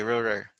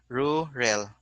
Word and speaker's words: ruler: Next, ruler, because they will say ruler. Sometimes they will mispronounce, interchange L and R sound. Sometimes they will say rural.